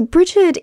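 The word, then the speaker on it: Bríd: me from Bridget or breed as her name is properly pronounced in Irish so Bridget is an energy a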